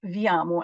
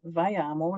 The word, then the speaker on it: Viamo: And over to you, Pacific, who, by the way, educated me that it's not Viamo, as I've been saying the entire time, but Viamo, like via mobile.